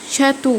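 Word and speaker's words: château: شاتو اللي هو قصر، نطقت الاي اي يو او.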